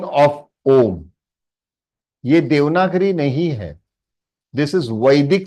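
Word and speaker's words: ॐ: half is same like anusar so it is pronounced om om om oh om am I clear my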